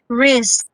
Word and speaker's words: risks: task okay task now we have sks for risks heard that how many did i pronounce because risk alone is already but s k s you have to put additionals so this one is read as risks risks so you have to sound as double two times risks all right next kt force